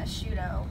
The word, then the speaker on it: Asciutto: want you to pronounce I want you to pronounce it I uh I'm currently going by a shudo okay um right now just I like the